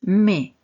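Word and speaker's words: моя: Dans le deuxième mot, nous avons deux voyelles, donc deux syllabes. Et si nous avons deux syllabes, une seule d'entre elles est accentué. Et ici, ce petit trait vous montre justement que c'est cette voyez i qui est accentué. Par conséquent, le O non accentué va se prononcer comme un a, ce qui nous donne ma.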